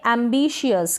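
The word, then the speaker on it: ambitious: show के रूप में पढ़ते हैं जैसे कि स्पेलिंग है इसको पढेंगे एंबिशियस क्या पढेंगे एंबिशियस तो यहां पर जो यह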